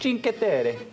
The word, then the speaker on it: Cinque Terre: So how is it pronounced? Cinque Terre.